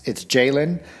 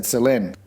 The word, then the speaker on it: Ceylin: In the beginning, I mispronounced Ceylin's name. It's Ceylin, but it's spelt with the letter C, so I said Ceylin.